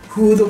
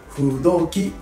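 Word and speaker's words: 風土記: ある本ですね風の土の木と書いてフドじゃなくて不動機と読むのでえこの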